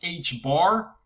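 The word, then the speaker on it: ħ: 2 pi its own special symbol and it's pronounced h bar it's h with a little bar through the stem so h bar is h over 2 pi okay all right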